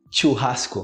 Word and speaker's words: churrasco: ver com a pronúncia totalmente diferente outra a pronúncia do CH que eu escuto o pessoal churrasco a churrasco churrasco é um churrasco aqui não churrasco churrasco eu